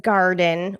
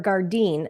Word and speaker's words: Gardyn: Now, the next one is Garden or Gardene. I have heard it pronounced 2 different ways.